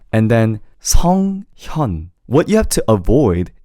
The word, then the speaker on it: 성현: So, pronouncing his name in the final is 성현.